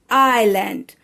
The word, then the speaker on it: island: happening in a story island in this word s is silent so children how to pronounce this word island a piece of land